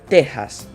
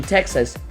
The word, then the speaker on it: Texas: This is pronounced like an H in English. Mexicali would be Mexicali, Mexico would be Mexico, and Texas, Texas.